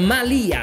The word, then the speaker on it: Malia: mondo noi siamo stati al malia mi raccomando con l'accento sulla i un villaggio veramente per